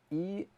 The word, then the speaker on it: elain: And by the way, Ingsve, if you're watching, I hope you're laughing already, because the word that I'm thinking of that is spelled E-L-A-I-N It actually is a word.